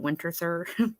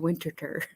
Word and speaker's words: Winterthur: and this one, which is what led me to Winterthur in the beginning, which I was saying it wrong. I think called it Winterthur, but it's called Mhm. to Winterthur. Winterthur.